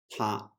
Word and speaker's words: 他: Yeah, the Chinese pronunciation of he and she are both 她.